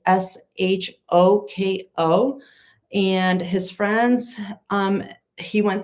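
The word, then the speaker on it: Shôko: at a beachfront nightclub called, and I don't know how to pronounce it, Shoko. It's Shoko.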